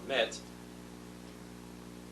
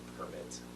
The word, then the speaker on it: permit: have to have a permit or something if i'm guessing permit permit instead of a permit emphasizing the wrong syllable that's the verb not having a permit